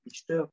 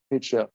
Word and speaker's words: Reacher: Jack Richter, non? Reacher. R-E-A-C-H-E-R. Comment ça se prononce pour les Anglais?